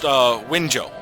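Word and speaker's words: Wenzhou: This is actually pronounced Winzhou, and I believe it's a province.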